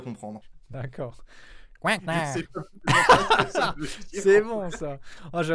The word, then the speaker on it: Coinknard: Coinquenard, je prononce. Oui, Coinquenard toujours.